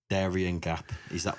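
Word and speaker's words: Darién Gap: So, talk to me about the Darien Gap.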